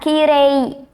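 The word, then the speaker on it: きれい: Nah, di kire ini itu akhirannya i kan ya minasan, karena kirei. Tapi di situ kita membacanya seperti kire. Jadi e-nya panjang. Di situ i-nya tidak terlalu disebut ya minasan.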